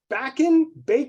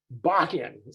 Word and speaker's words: Bakken: Chris is Chief Product Officer, Projects Officer, if I got that right from Mike, and is it Bacon? I don't know the best way to pronounce that, Chris. Bakken, okay, Bakken Energy.